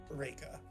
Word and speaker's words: Reika: Is it Rika or Reika? Reika.